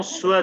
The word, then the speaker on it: soient: pas que ses enfants soient des idiots, pardon, we do not pronounce T, या il ne dit